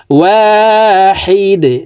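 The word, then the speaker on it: واحد: ওয়াহিদে, দাল যেহেতু কলকলার হরফ, নিচের দিকে ধাবিত করে ধাক্কা দিয়ে উচ্চারণ করতে হবে।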